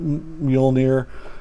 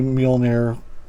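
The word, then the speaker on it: Mjölnir: Everybody pronounces it a little bit different. I've always heard it Mjolnir, and the power of the Mighty Thor. So don't bust my balls in comments about not saying it right, because I don't think I've ever heard it. Well, I've heard it mostly Mjolnir, but anyways, that's not important.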